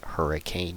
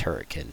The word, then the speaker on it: Hurricane: Well, just the general consensus was hurricane Utah, which is not how you pronounce it. It's hurricane, by the way.